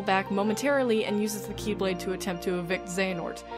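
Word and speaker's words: χ-blade: body this union spawns the Chi blade it's pronounced Keyblade but I'm calling it Keyblade for simplicity which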